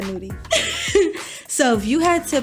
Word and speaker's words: Nudy: who else do we have oh young nudy nutty I keep saying that boy name wrong so out of the he said nudy so if you had to pick any of